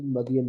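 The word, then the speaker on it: Madyan: से थोड़ा सा हट के य दिस इ मदन वैली मेंडम वैली है लिखा हु लेकिन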